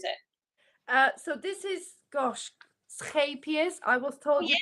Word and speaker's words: Scheepjes: So this is, gosh, Scheepjes. I was told you pronounce it.